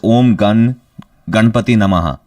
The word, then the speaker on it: Om Ganpati Namaha: Yeah, and it's Om Ganpati Namaha. That's how it's pronounced.